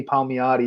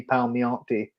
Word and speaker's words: Palmiotti: from yesterday he uh instead of saying jimmy palmiotti he said jimmy palmionti so we uh we